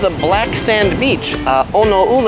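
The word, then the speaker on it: Oneuli: black sand beach uh onole I believe it's pronounced my Hawaiian isn't so good literally translates to black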